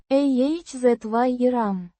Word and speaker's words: Озером: Pronounced ah-zye-rahm. with the stress on the second syllable.